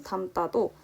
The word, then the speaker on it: 담다: 두 번째 예시인 담다도 어감 받침 여기 미음으로 인해서 뒤에 있는 디귿이 쌍디귿으로 발음이 나고 있습니다.